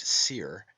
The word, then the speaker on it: soir: Therefore we have the heavenly wolf Osiris, meaning the high eastern sun, from os, high, and soir, pronounced seer, and meaning east, hence the morning sun.